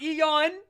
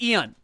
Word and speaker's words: Ian: It's not Eon. It's not a two-syllable thing. It's Ian.